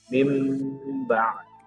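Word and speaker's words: مِنْ بَعْدِ: Kita membacanya menjadi mim ba'di, mim ba'di. Kenapa? Karena nun mati atau tanwinnya diganti menjadi huruf mim.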